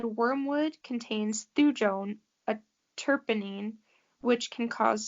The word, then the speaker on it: thujone: It's thujone.